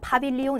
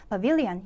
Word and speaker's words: pavilion: 파빌리온 이렇게 발음은요. pavilion이라고 해주시면 좋겠습니다. 다시 한번요. pavilion 요거 꼭 기억해 주시고 그리고 지금 여기 보면 요 단어 하나만 챙겨볼게요.